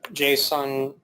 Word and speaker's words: JSON: things will be interoperable so Jason is pronounced JSON JSON schema is basically